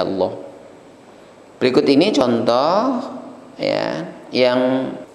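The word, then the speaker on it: الله: adalah Lemah atau fathah maka sifat bunyi lam pada lafadz Allah menebal tafkhim dibaca Allah berikut ini contoh ya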